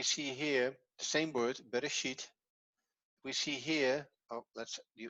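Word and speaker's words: בראשית: So it's be, re, and the aleph is part of this syllable, sheet.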